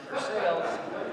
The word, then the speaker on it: Versailles: was in versailles ohio it spelled like versailles but you know how i would pronounce it for sales and um she taught